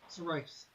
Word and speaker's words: Serroice: Serroice.